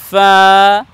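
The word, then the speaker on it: ف: এ বর্ণের নাম হলো ফা উচ্চারণ করতে হবে এভাবে সামনের উপরের সম্মুখ ভাগের দুই দাঁত এবং নিচের ঠোঁটের ভেজা অংশ থেকে লাগিয়ে উচ্চারণ করতে হবে ফা এরপরের বর্ণ হলো এখানে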